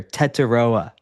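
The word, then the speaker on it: Tetairoa: Tetaroa is his name, and I did see a press conference where he said that he doesn't like being called Tet.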